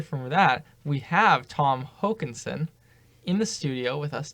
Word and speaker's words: Håkanson: It's actually the little "oa" is pronounced like an O, so it's Håkanson. Håkanson.